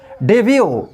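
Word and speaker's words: debut: Some other words, कुछ और other word में टी साइलेंट होता है। जैसे डेब्यू, डेब्यू मिस होता है प्रथम प्रवेश।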